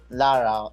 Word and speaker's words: Lara: So are we supposed to pronounce the 1, or we just call you Lara? Lara, it's okay. Lara is okay.